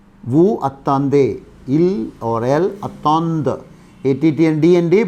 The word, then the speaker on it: attendent: Il attend, elle attend. Nous attendons. Vous attendez. Il or elle attendent. ATTNDND, but the pronunciation will be attend.